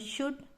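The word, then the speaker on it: should: यहाँ SH है, ये वापस है OULD, इसको स तो शुड और ये हो गया कुड, ठीक है।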